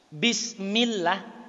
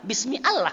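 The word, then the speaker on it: بسم الله: Kira-kira kalau dikasih spasi itu bacanya gimana yang nggak tahu bahasa Arab Pak? Iya kalau dia bisa tafkhim Allah. Kalau dia tidak bisa tafkhim, bismi Allah Pak.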